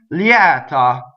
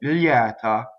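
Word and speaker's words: lieta: Liɛta, open E after the semivowel. Liɛta.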